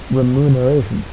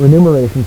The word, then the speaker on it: remuneration: provide cented and REM I've always pronounced that word wrong REM remuneration I'm going to miss it I renumeration forell people ination now